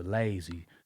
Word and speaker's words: Layzie: So [cough and clears throat] I changed my name from l uh from busy to lazy. Lazy lazy. Lazy to rhyme with crazy cuz they you know